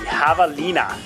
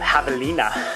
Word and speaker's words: Javalina: out on a knife the havalina i don't know what it is about that word or the name that makes me want to pronounce it like that javelina i think that's how the company wants to pronounce it as well they give you a little spelling on the entrec usa website of javelina i just want to